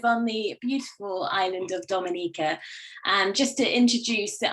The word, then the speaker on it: Dominica: Okay, boom, we call it Dominica. Yes, the nature isle of the Caribbean. It's rum punch time. Oh, we call it Dominica. It is spelled D-O-M-I-N-I-C-A.